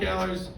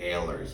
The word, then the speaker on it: Allers: my name is Ellers my name is always mispronounced goes back to my babysitter when I was a kid she called us the Alors family could never really figure